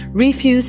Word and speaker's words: refuse: In this context, refuse is pronounced with the stress on the first syllable.